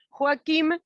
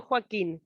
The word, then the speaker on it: Joaquim: Es Joaquim con M, no Joaquín, Joaquim o Joacim.